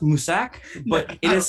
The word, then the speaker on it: Mousesack: It was actually pronounced Musak, but it is spelled Mousesack.